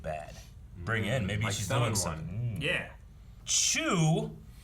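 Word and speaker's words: Choux: bring in maybe yeah chew i think is how you say this name c-h-o-u-x yes true like a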